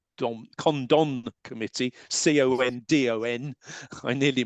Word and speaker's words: Condon: report on UFOs the infamously known as the condom condom committee c-o-n-d-o-n I nearly mispronounced it after Dr Edward Condon this this